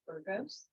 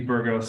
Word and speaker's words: Bergos: So, let's go ahead with our presentation from Bergos. Hopefully I pronounced that correctly. You did. Thank you. Um, thank you all for having me. I really appreciate it. Uh, my name is Bergos.